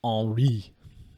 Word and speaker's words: Henri: In the midst of Hurricane Henri, that's the correct pronunciation.